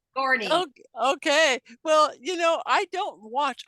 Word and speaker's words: Sigourney: Her last name is Weaver, and it starts with Sigourney. Sigourney.